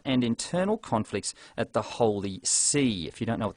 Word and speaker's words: Holy See: internal conflicts at the Holy See. If you don't know what the Holy See is, it's not an ocean kind of sea. It's spelled S-E-E, which is a kind of a funny name for the Popery.